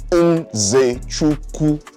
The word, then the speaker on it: Nzechukwu: Shout out to my boy, Kennedy Nzechukwu. Not Nzechukwu. Kennedy Nzechukwu. That is how you pronounce the name. Trust me, Nigerian here, saying what it is.